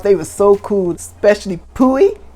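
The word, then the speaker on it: Pui: were so cool especially poohi it says p-u-i i think i'm pretty that's how i pronounced it on my reader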